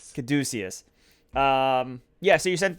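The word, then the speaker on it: Caduceus: then you essentially um are shipped out to Cadesius. That is how it's pronounced. Oh, I wrote this down because I love the way it was. Uh, essentially it's the CDC. Yeah. Kaduciius. Kaducius.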